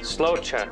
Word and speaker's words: Sláinte: Sláinte is the Irish for cheers. Sláinte.